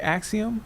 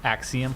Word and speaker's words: Axiom: Axiom Axiom.